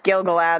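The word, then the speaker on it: Gil-galad: not used to well and I got his name wrong too it's gilgalad that's the elf king right now I am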